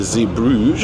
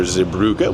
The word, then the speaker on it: Zeebrugge: move welcome officially to Ze brouge or zuga whichever pronunciation you prefer little wind here at